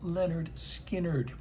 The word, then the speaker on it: Lynyrd Skynyrd: Almonds Brothers and Sisters, and the year of pronounced Leonard Skard.